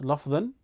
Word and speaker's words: لفظا: This change that happens at the end of the words can either be pronounced lafdhan, the same word as we mentioned at the start of al-Kalam, huwa lafdhu, right?